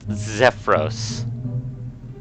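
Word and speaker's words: Xefros: I'm going to pronounce it Zephyros. Because it's X-Ray, Echo, Foxtrot, Romeo, Oscar, Sierra. Yeah, it sounds like it'd be Zephyros.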